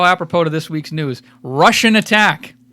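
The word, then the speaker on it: Rush'n Attack: Russian Attack. Spell it out. It's Rush, like the band, 'N, Attack.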